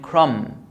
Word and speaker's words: crumb: This is tomb and crumb. So when the B is after M, I don't pronounce the B.